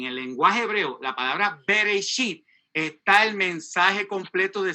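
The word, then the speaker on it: בראשית: La primera palabra en Génesis, la primera palabra en hebreo, está ahí pronunciada, se dice Bereshit.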